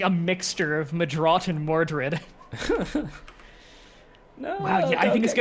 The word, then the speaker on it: Medraut: And the original pronunciation is Madrot, which is what I'm named after.